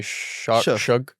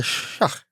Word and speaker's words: Shugg: Shug. Like I want to say Shaw, but I keep hearing people say Shug. Tyler Shugg.